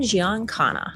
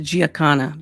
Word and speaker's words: Giancana: Enter Sam Giancana, mob boss, alleged Marilyn. I think it's pronounced Giancana, but that's okay, honey. Contact connected to the Kennedys. Giancana.